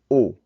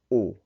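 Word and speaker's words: au: new word which is oh and that's pronounced just like the top one oh that X on the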